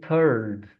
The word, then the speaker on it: third: And again, I know it writes with the letter I. I know the word is spelled with the letter I. But one more time, we're going to use the sound uh and we're going to say third.